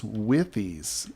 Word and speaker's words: withies: some withies see these Spruce withies is how I've been told that's pronounced I don't know with wies withies um I used to say w es but then I was corrected at one point but anyway so these